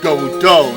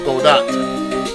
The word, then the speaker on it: Godot: you even think otherwise his name is actually pronounced godo not Godot if you really think about it's like saying